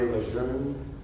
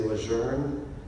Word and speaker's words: Lejeune: by the name of John A. Lejeune, or in some places we say Lejeune. Apparently the families are divided on how to pronounce their last name.